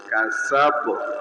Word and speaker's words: كسب: দম ফেলার কারণে জবরটি জজম হয়ে যাবে এবং কলকলা হবে। কাসাব উচ্চারণ হবে কাসাব, এখানে ধাক্কা দিতে হবে।